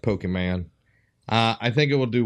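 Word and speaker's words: Pokémon: I do think we see a lot of the aspects from Pokemon Go. I think you're going to see a lot of it You from pronounce it wrong. It's Pokemon.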